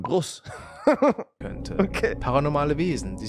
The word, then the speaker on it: Bruce: Ist nicht Bruce, sondern Bruce.